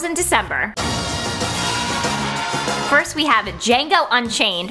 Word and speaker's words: Django: First we have Django Unchained, the D is silent, directed by the one, the only, Mr.